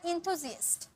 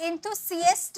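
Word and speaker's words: enthusiast: उत्साही को बोला जाता है इंथुजियस्ट, इंथुजियस्ट, इंथुसियस्ट नहीं, सी से नहीं पढ़ेंगे, जी, जी पढ़ेंगे। ज भी, ये ज नहीं, ये ज है। देखिए ज ऐसा होता है और ज ऐसा होता है, ठीक है। तो इंथुजियस्ट, जी, ज का साउंड आ रहा है, इंथुजियस्ट नहीं, जीएस्ट।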